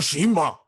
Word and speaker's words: Tsushima: Is the T silent? Ghost of Tsushima. Whoa. There you go. That's how you say it right there.